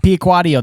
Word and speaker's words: Piacquadio: And Piacquadio, that's the proper pronunciation, right?